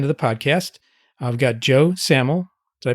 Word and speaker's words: Joe Samel: I've got Joe Samel. Did I pronounce that right, Joe?